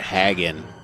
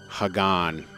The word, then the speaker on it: Hagan: People be calling it Hagen. Hagan.